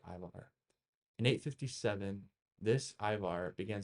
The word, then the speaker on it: Ivar: the Irish annals and they spell it I M A R but it's still pronounced Ivar.